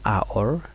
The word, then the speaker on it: hour: U umbrella an umbrella an hour ko toge ke HOU ke nyam na me H silent H boni tango de kake